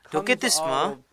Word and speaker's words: doketisme: ajarat yang kedua adalah C diucapkan sebagai K seperti makedonia dalam bahasa Inggris disebut makedonia dalam bahasa Inggris itu masedonia tapi sebenarnya itu berbunyi huruf k makedonia dahulu doketisme berasal dari huruf Yunani